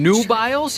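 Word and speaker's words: Nubiles: good time yeah you know awesome absolutely awesome new biles you said new biles Nu U i l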